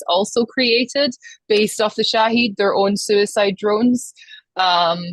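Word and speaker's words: Shahed: The the Shahid the Shahid drones like Yeah. Was I mispronouncing it the whole time? No, you said Fahed.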